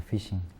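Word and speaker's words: phishing: llamamos pesca de datos en inglés se pronuncia fishing ya el fishing no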